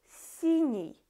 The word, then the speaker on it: синий: For example, синий, we pronounce N, синий, and then it goes E to pronounce it easily.